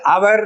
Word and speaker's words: hour: அந்த H silent, so இட்ஸ் not pronounced. அப்போ அவர் அப்படின்னு வருது. ஸோ an hour அப்படின்னு தான் சொல்லணும்.